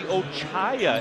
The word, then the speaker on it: Ochaya: little bit of feedback we see ochaya is how we pronounce the names based on what I've